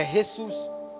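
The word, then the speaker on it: Jesús: no português por exemplo a palavra eh Jesus a letra J se pronuncia com o som mas se você falar em espanhol a letra J tem outro som é ressus né então é a mesma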